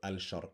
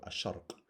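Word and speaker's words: الشرق: letter a shark again Sheen is also a sun letter so we don't go al-shark we go a shark and again this also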